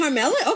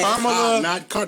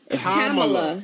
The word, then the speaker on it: Kamala: I was like, is it Carmella? Okay. Kamala. No R. Kamala.